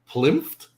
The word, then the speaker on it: PLINFT: And today we are honored to have Willem from, do I just call it PLINFT? Is that the way? Yeah, that's it. Yeah, that's the way you pronounce it.